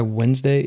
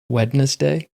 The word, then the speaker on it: Wednesday: And have you ever wondered why Wednesday isn't pronounced wetness day?